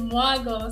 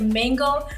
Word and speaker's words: Mago: My last name is Mago. So I've heard interesting names like mango.